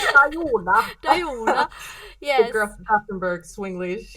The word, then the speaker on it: Dajana: It was like Dajana. Dajona.